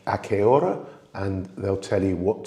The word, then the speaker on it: hora: and it's a qué hora. So when you're asking it as a question, it's a qué hora. Hora, you don't pronounce the H in Spanish, but the rest of it is really, really straightforward.